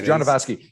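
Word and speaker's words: Jodorowsky: in the 70s of june by uh alejandro you ordered ski or whatever how do you pronounce his name do you know genovaski yeah it's john devasky so amaze and there's a doco that's available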